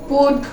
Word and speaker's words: put: এরকম উচ্চারণ দেয় তাহলে পি আর টি এর মাঝখানে যদি এই চিহ্নটা থাকে তাহলে উচ্চারণ কেমন হইছে পুট পুট পুট অবশ্যই কি হবে পুট এরকম উচ্চারণ দিছে না তার মানে কি